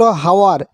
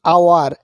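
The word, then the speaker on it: hour: হওয়া উচিত ছিল হাওয়ার। কিন্তু আমরা উচ্চারণ করি আওয়ার।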